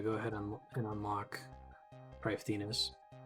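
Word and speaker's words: Prifddinas: and unlock probably thinnest probably your first time hearing me pronounce that i know everyone calls it priff dennis or priff but i'm pretty sure that's the actual was it welsh pronunciation check the wiki it says to pronounce it that way i just don't think anybody does um but it'll be nice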